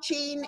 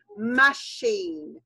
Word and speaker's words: machine: so much in machine it's not not gene it's machine machine so okay so it